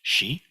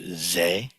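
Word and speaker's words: 世: In Chinese, it's pronounced Shi. In Japanese, it's Ze. In Korean, it's pronounced Se.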